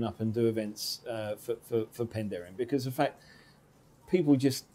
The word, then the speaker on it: Penderyn: Am I saying that correctly? You're saying it right, yeah. Penderyn?